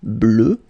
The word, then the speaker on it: bleue: Okay, phonetically it doesn't exist because you don't pronounce it, so you get bleu as you would get for the masculine form.